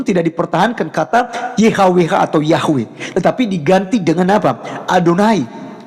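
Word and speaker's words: Yahweh: langit dan bumi adalah Yod he W he yang di kita kenal sebagai yahwe ya kita bacanya sebutnya yahwe Nah jadi teman-teman sekalian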